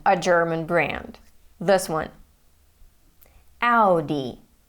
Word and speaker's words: Audi: German brand this one Audi Audi this is how it is pronounced in German and this is how most of the world pronounces it but not audio D now this one is